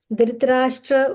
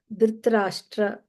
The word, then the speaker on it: Dhritarashtra: The Sanskrit pronunciation guide is, if you see Dhritarashtra, the R is mentioned as half Ra, so that is a dot below R. That means R, Dhritarashtra. It's not Dhritarashtra, it's Dhritarashtra. There is a hyphen on